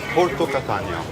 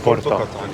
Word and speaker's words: Porta Catania: And this is Porto Catania. Porto, right? Yeah, Porta. Catania. Porta? Porta Catania.